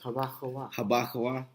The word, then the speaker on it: Habakkuk: It's HaBaKawah.